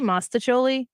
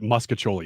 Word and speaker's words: mostaccioli: I say mostaccioli, but I don't know that that's right either. And I'm pretty sure it is right. Mostaccioli? I mean, I'm acknowleding that muscatoli is the wrong pronunciation of Mostaccioli that.